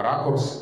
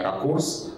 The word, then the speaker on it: ракурс: И тогда мы говорим о том, что правильно ракурс и никак иначе. А ударение ракурс уже из языка ушло, и этот вариант устарел.